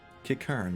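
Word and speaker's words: Qiqirn: Kikern, that's how it's pronounced.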